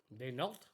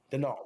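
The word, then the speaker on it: Daigneault: Mark, I don't know how to pronounce his last name. Denault.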